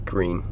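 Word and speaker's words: Gruene: it wrong so it's green Texas not Gruinard I was saying grew in Texas but it's just green Texas easy enough green easy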